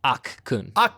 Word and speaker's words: Akkun: Akkun. Yes, like Aku, but with more of an n at the end.